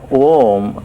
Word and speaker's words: Om: Yeah, Om has three sounds built into it. The first sound is Ah. The second sound is U.